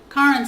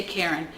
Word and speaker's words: Karen: name it's karen fletcher karen sounds like car in just like it's spelled but no one ever says it right they say karen and so does the